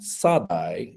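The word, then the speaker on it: שָׂדַי: Okay, there's a poetic word that is said to mean field, but that is just Shaddai with a dot moved, and it's pronounced Sadai, but it's just a dot goes from the one top of the character to the other top of the character.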